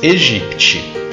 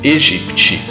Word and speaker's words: aegypti: Em latim, a E se pronuncia E. Por isso se diz Egipte. O mesmo não vale para Aedes, simplesmente porque aí o A é prefixo de negação, como em desagradável. Por isso pronuncia-se Aedes aegypti.